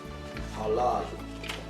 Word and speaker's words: halal: Halal. Halal is spelled in English as H-A-L-A-L, but it's pronounced as halal, like H-A-W-L-A-L, halal.